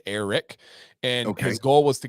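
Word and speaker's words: Airrack: channel it's a guy by the name of Eric but it's spelled air rack Iraq Eric and his goal was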